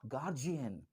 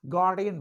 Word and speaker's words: guardian: तो आज के बाद से आप गार्जियन नहीं बोलेंगे, आप गार्डियन बोलेंगे।